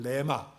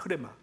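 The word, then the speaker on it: ῥῆμα: 하나는 로고스라는 단어를 쓰고 있고 하나는 여러분이 알고 있는 레마. 근데 레마인데 사실은 정확하게 발음하는 흐레마예요. 흐레마.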